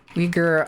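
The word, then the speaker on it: Uyghur: No, no, it's spelled here. Let me type it out. It's u G hur. It's like that, but you say it weaguer.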